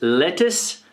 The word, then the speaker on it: lettuce: your salads uh lettuce it's not luse it's lettuce lettuce we can see here again lettuce lettuce